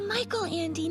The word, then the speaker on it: Michael Andy: sound good first off it's michael andy not michelle you really haven't read